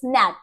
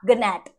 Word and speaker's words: gnat: को मेंशन करना है, जैसे GNAT, इट्स नैट, नॉट गनैट, ठीक है, दिस इज